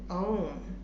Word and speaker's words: ओम: उच्चारण ओम नहीं है, इसका उच्चारण ओम अर्थात अ, उ और म, इन तीनों का एक संयुक्त, 3 अक्षरों का संयुक्त शब्द जिसे कहते हैं ओम।